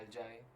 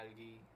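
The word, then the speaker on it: algae: इसको हम कहते हैं एल्जाई या एल्गी, जो भी चीज़ जिस तरह भी आप इसको प्रोनाउंस करना चाहें, ठीक है।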